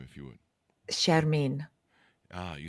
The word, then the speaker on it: Shermin: there you go uh give us the correct pronunciation of your first name if you would sharmine ah you say it's so much more beautiful